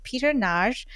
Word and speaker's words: Peter Nagy: So today in our virtual studio, we have Peter Nagy, who is a media scholar working at Arizona State University as a lecturer.